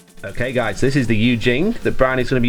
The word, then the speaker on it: Yu Jing: We've got a combined army and the Eugene, is it pronounced? Yeah, Eugene.